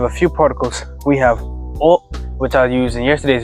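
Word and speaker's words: を: The particle o indicates direct objects, the kind of things that are directly involved in or affected by the event. Note that this particle is pronounced o.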